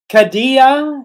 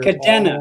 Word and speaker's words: Cadena: It's actually all uh, the it's cadena, so they're Cadena. all the syllables are all lowercase or short vowels, I should say.